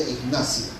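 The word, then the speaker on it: Egnatia: Se escribe pronunciar la vía Ignacia.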